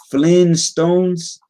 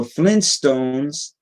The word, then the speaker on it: Flintstones: whatever right flynn star the flintstones has two t's we've been pronouncing it without that first one so this is really awkward now flintstones so they're saying that it's been flint stones apparently for all time right let's get that